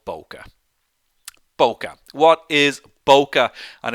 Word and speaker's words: bokeh: of all it's pronounced boca bo bo bo car not bucky not bouquet it's bo ka okay so we have